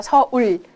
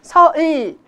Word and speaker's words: 서울: 안 그러면 서울 발음이 어떻게 된다고요? 서을처럼 발음이 되기 때문에 부정확한 발음이 되고 있습니다.